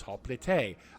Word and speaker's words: hoplite: Now, some people say, hey, it's hoplite because that's how it's spelled, whatever. But the Greek way of saying it was hoplite.